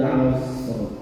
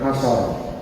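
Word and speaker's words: العصر: Maka bacanya wal 'asr. Asr, bukan asar.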